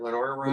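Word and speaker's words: Lenoir-Rhyne: Lenoir Ryan or Lenoir Ryan?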